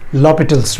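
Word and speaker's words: L'Hôpital: Okay, चलिए समझते हैं इस एल हॉस्पिटल रूल या फिर एल हॉस्पिटल रूल, कुछ भी कह लीजिए, but actually it is pronounced as लॉपिटल्स rule in French, but ठीक है, हम कन्वीनियंटली इसको एल हॉस्पिटल ही बोलते हैं।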